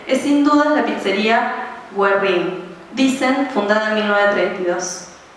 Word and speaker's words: Guerrín: sin duda la pizzería Guerrín, dicen fundada en 1932, que se pronuncia sin la U con diéresis, so pena de terminar recluido en la Patagonia.